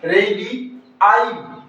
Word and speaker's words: radii: इसका correct pronunciation क्या होगा? ये क्या है? रेडियस। और ये क्या होगा साथियों? रेडी आई। ये इसका आई है जो हमने ऐड किया है। इसका अलग से प्रोनंसिएशन होगा साथियों। तो इसको क्या बोला जाएगा? रेडी आई। क्या बोला जाएगा? रेडियाई तो ये जो इर्रेगुलर